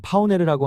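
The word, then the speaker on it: Пионер: 이름 자체는 러시아식 발음으로는 파오네르라고 하는 것 같고 영어식 발음으로는 파이어니어라고 하죠.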